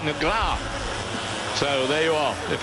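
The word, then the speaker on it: Negrão: And the pronunciation, really, of Alexandrino Nagro, I'm told from my Brazilian friends, is more like Negra.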